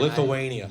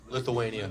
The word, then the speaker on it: Lithuania: Lithuania.